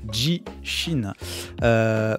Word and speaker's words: 地震: notre titre joue le mans gras comme d'habitude jishin pour la prononciation c'est ça jy chine première phase caisse